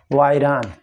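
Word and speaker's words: virion: कहते हैं, तो उसको कहते हैं जो है वायरान।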